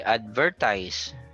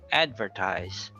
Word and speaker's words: advertise: Okay, so you don't say advertise. So it's say advertise.